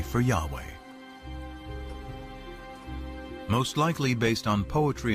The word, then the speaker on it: Yahweh: knew God by his intimate personal name conventionally pronounced Yahweh passages with the name yah way which in